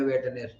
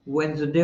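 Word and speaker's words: Wednesday: adjective as हा वेनसडे वेनसडे को 80 पर से भी ज्यादा आदमी बोलते हैं वेटने डी साइलेंट है तो क्या होगा वेनसडे होगा ना चलो फिर और दूसरी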